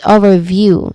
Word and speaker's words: overview: This we stress on the first syllable here. The first syllable is o simple o. So that's the stress syllable and then second syllable is ver. It is soft and quick which has a short a vowel sound. And the third syllable is view. It is clear. It's rhyming with few. So that's overview.